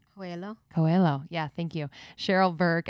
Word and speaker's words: Coelho: oh i'm going to say it wrong huelo coelho yeah thank you cheryl burke as well as